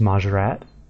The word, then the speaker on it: Mahjarrat: It's pretty similar to what I thought it was, but it has a bit more emphasis on the T at the end. They sort of pronounce as if it had 2 T's rather than just the one.